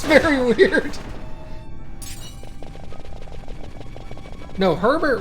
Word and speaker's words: Herbert: it's very weird no herbert would be herbert because it's a name although in some parts of the country they would say not herbert we would say herbert this is again this